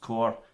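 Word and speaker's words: Corps: Yeah, no, it's pronounced core, C-O-R-P-S.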